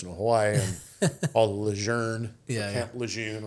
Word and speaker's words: Lejeune: We honor the legendary General Lejeune by mispronouncing his name, so we call him Lejeune when he's Lejeune, whatever. But you sound like a tool if you say Lejeune, right? But it's Lejeune, and all those guys think